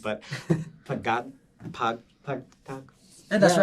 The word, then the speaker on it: Pagtatag: But I do want to get into the EP a lot, and I'm gonna try my best with the pronunciation. But Pagtatag. Yeah, that's Yeah, right. Pagtatag, yeah.